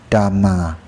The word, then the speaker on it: Dhamma: In English, it's transliterated from Pali as Dhamma, pronounced Dhamma.